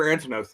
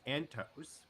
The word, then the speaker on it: Antos: Yeah, where did Heather Antonos go? First off, her name is pronounced Antos.